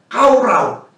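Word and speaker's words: קָרָא: Tapi dalam bahasa Inggris, ini kara ini dibacanya kaurau.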